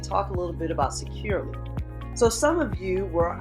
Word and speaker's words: Securly: So right now we're taking a look at the Securely webpage, and if you notice that Securely is spelled Securly. So you don't have that extra E in there. So this is Securely.